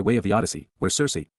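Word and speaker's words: Circe: of the Odyssey where Cersei pronounced with the hard CH sound as the daughter of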